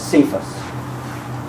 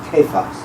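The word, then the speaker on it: Cephas: he always calls Peter Kos which is his uh Aramaic name uh Lecter always mispronounce it as cus because it's spelled with a c but it actually is pronounced the the Aramaic is Kos which means Rock um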